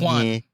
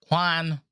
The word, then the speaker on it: Juan: so much is that my name Juan also sounds like check 1, 2, 1. I should get that all the time. Check 1, check 2. I mean, it's pronounced Juan, but Americans are like Juan.